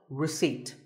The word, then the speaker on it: receipt: As in word number 24, receipt. The P is silent.